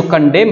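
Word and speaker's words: condemn: और आप लोग का ये जो कंडेम है जिसमें ये लास्ट में एन साइलेंट है, ठीक है, इसका मतलब है आलोचना, ठीक है।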